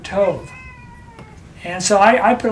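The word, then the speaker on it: טוב: it's like toe, but Tov.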